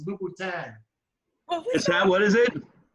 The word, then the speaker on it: Louboutin: She knew what you were talking about because you pronounced it Louis Vuitton. It's Louboutin. Is that, what is it? You pronounced it Louis Vuitton. Oh, my goodness. Hey, how do you say it right? Louboutin.